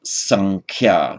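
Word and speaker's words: saṃkhyā: with a subdotted M, but most often pronounced sankhya. So in other words, this nasal sound takes the quality of the following consonant, sankhya. You don't have to strain to do it, it happens automatically and normally.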